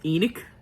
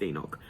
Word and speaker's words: Enoch: read change purely because they pronounced Enoch as Enoch and it's Enoch but anyways so yes